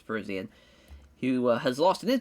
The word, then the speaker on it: Parisian: But I think he's got a good chance against Josh Parzarian. Parisian. I always forget how to pronounce it. Yeah, I'm pretty sure it's Parisian.